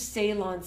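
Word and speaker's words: Ceylon: cinnamon for cooking I like to use Salon cinnamon and that's spelled c y l n and then there's also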